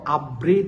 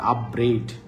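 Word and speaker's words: upbraid: কন্টেমড ঘৃণা করা দেখো আপ্রেড নামে একটা ওয়ার্ড আছে আপ্রেড ঠিক আছে আপ্রেড আপ্রেডটা এভাবে মনে রাখবা ব্রেড মানে তো রুটি ওইটা ওই বানানটা এরকম ব্রেড রুটি উচ্চারণটা এখানে কাছাকাছি আপ্রেড তাইলে ব্রেড মানে হচ্ছে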